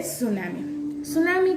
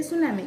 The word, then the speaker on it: tsunami: तो देखते हैं सुनामी का स्पेलिंग आपने देखा, स्टार्टिंग वर्ड टी है, लेकिन हम बोलते हैं सुनामी क्योंकि टी साइलेंट वर्ड है, इसीलिए। वरना बहुत सारे लोग तो इसे अलग तरीके से भी प्रोनाउंस करते हैं, लेकिन इसका सही प्रोनाउंसिएशन क्या है? तो कि सुनामी, क्योंकि आगे का जो टी है वो साइलेंट है।